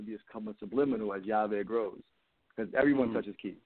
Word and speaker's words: YaVe: So YaVe means key in Spanish, but it's spelled with two L's. So if you can't speak Spanish, it's like LaVe or LaVe, you say it weirdly. So YaVe, it's spelled phonetically YAVE, capital YA, capital VE.